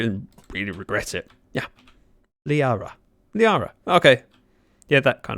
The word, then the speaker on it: Liara: Lyra... Yeah. I'm going to stop. You know when you start butchering a name, but you still continue and really regret it? Yeah. Liara.